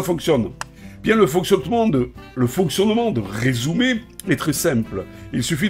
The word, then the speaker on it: Resoomer: Cet outil-là, c'est Resumer. Ça s'écrit R-E-S-O-O-M-E-R.